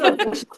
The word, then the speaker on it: AuDHDcious: But then we never pronounce it as that because why would you? Because why would you? So it is AuDHDcious Humans.